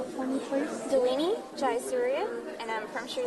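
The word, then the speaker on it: Dilini: all and would you say your name and spell it for me please delini gria and I'm from Sri Lanka so and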